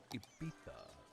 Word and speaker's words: Ibiza: Coming up is a little track I heard in Ibiza, or as the locals pronounce it, Ibiza.